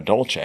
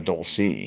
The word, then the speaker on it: Dolce: you know, family and I was like, "Oh, no, that's I'm I'm a Dolce. I'm not a Doulce." Yeah. Like that word doesn't even exist, right? It's it's a Dolce.